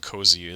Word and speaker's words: COAZEH: So essentially, it's I'm pronouncing it COAZEH, as you've heard.